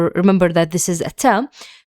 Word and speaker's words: ت: dots, two dots, and the ta, the pronunciation of the ta in two is the same pronunciation as the t here.